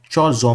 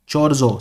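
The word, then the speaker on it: Chorzów: कहाँ पे हुआ था, ये पोलैंड के शहर चोरजो में हुआ था। चोरजो स्पेलिंग है स्पेलिंग है CHORZOW, चोरजो, राइट।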